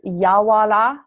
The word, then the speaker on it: Yawara: How do you say that? It's Yawara.